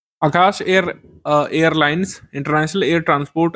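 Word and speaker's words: Akasa: Indigo Vistara spice जेट और आकाशा एयर यह शामिल हो गया है। इसको आकाश वैसे बोलते हैं लेकिन इसकी स्पेलिंग वैसे यही होती है। ए के एस ए आगे प्रश्न है निम्नलिखित में से कौन सा कथन सही है?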